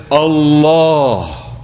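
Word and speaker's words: الله: the word according to standard modes of Arabic pronunciation we would say Allah Allah but instead we say Allah and that change in diction is emphasis for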